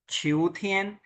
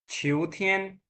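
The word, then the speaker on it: 秋天: Autumn, उसको कहते हैं हम छिऊ, छिऊथियन। एंड देन जो है वो होता है विंटर, तोंगथियन। समझ आ गई? छुनथियन, शियाथियन, छिऊथियन, तोंगथियन, ये जो चार मौसम हैं उनके लिए यूज किया जाता है।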